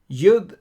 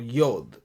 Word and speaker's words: yod: Yud and quotes. Well, what are these jots and tittles? Here is the yud or yod. We say yod and yud are just one and the same.